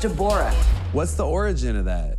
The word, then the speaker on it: Deborah: It's pronounced Deborah.